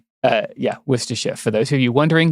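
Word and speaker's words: Worcestershire: Well, well, uh, yeah, Worersha, for those of you wondering, there it is.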